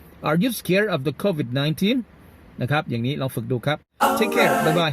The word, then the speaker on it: COVID-19: COVID-19 ออกเสียงตามได้เลยนะครับ COVID ทีนี้เพิ่มเข้าไปคำว่า 19 ครับเพราะมันจะมีเสียง stress ที่ตัวแรกครับ COVID นะครับตัวที่สองก็เป็นออกเสียง stress เสียงหนักที่ teen COVID-19 Okay, that's great.